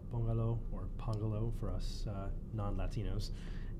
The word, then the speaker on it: Pongalo: I also work at a startup company called Pongalo, or Pongalo for us non-Latinos. And it's can you spell that?